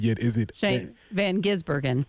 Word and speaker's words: Gisbergen: I was listening to the video to figure out how to pronounce it. Still haven't quite got it yet. Is it Shane Van Gisbergen? Gisbergen, yes.